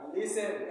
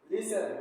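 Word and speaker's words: listen: जब कुछ बोलते हैं ऐसे वर्ड में टी साइलेंट हो जाता है और हमेशा ध्यान रखना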